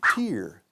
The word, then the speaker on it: tear: I'm crying, it's a tear. Una lágrima. The word of the day. La palabra del día. Ojo, tear. Escrito tear. Tear. Como here, beer, cerveza, tear.